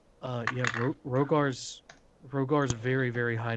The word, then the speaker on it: Rhogar: group at this point i knew there was a silent h i knew it there's